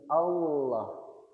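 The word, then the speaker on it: الله: Ketika kita membaca lam, posisi lidahnya menempel di langit-langit atas. Jadi Allah, Allah tapi tetap tebal. Allah coba Allah. Allah. Ingat lidahnya tetap menempel di langit-langit atas. Allah. Allah. Allah. Allah. Jadi, Bapak-bapak biasanya bacanya aww apa l? Ah, ngih. Allah. Jadi sekali lagi, sekali lagi bukan Allah pakai ee apa namanya? Pakai bibir, tapi tetap pakai makhrajnya lam.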